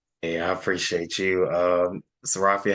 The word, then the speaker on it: Serafia: Before we begin, just so I make sure I'm pronouncing it right, Serafia, right?